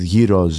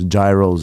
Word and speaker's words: gyros: would eat fries with gyros gyros or you guys say it we say you know that's the right way to say it you know what I'm saying don't ever don't ever call don't don't say gyro look at the [